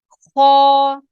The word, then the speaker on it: خ: خا اینڈ را, خا اینڈ را جو ہے ہم نے حروف مستعلیہ میں سے پڑھے ہیں. را اینڈ خا, را خا را خا, ان کو آپ نے موٹا ہی پڑھنا ہے.